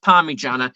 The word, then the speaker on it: parmigiana: It's pronounced Parmigiana.